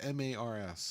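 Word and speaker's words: M/A/R/S: Now, is it pronounced Mars or just M-A-R-S? Just say Mars.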